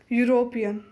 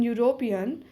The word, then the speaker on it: European: mobile a not and the vowel you in University and uniform and the vowel EU in European sound like you and these words